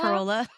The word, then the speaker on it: Corolla: And yes, that's actually how you pronounce it. It's not Corolla like Not Toyota Toyota Corolla. Corolla. No, it's pronounced Corolla Okay.